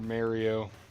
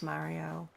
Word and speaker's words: Mario: Super Mario. That's what I said. Yeah. I'm gonna go beat up a god now. You can't stop me. I always thought it was so weird how Americans pronounce Mario.